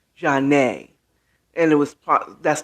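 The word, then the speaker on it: Zhané: more than one called janae spelled z-a-n-e and i think there's a stress over the e jarnay and it was part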